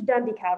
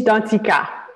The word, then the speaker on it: Danticat: author um so let me make sure i pronounce right so edward's done decal right oh edwise dantzika he's been the cow okay perfect yes so